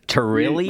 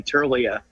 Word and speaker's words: Tirlea: while ago buddy terrilly you said it you said it uh i i think you said it right it's truly a t-i-r-l-e-a turlia all right so we're